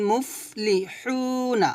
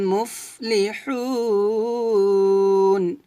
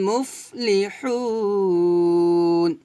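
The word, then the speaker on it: مُفْلِحُون: আবার বলেন, ওয়া উলাইকা হুমুল মুফলিহুন। হুমুল মুফলি, মুফলি, মুফেলি, এভাবে না, সুন্দর করে স্পষ্ট করে উচ্চারণ করবেন, বাতাস বের করে।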